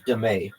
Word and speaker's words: dame: Also known as demay.